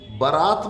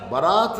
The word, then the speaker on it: बारात: फिर मैं दोस्त की बरात में जाऊंगा बरात नहीं की बारात नहीं भरा तो सही